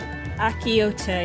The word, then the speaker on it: Achiote: Achiote is how I pronounce it. Like an ancho chili.